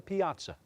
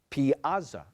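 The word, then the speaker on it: piazza: favorite subject so Agarwal so the word is Piaza an open Square in a town a large sculptured Fountain graced the center of the Piaza Piaza language Orin please this word came from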